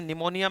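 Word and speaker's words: pneumonia: इसमें निमोनिया में पी है पहले साइलेंट है पी।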